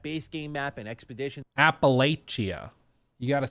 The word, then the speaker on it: Appalachia: Appalachia. You got to say it like you got molasses pouring out of your mouth. Appalachia. That's how you got to do it.